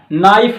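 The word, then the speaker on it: knife: कहां से क्या होगा, के बाद जब भी एन आएगा तो के साइलेंट रहेगा, नॉलेज होगा, कनॉलेज नहीं होगा, नो कनो नहीं होगा, नाइफ होता है कनाइफ नहीं होता।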